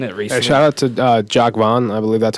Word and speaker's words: Jacques Vaughn: Shout out to Jacques Vaughn. I believe that's how you say his name. Yes, Jacques Vaughn.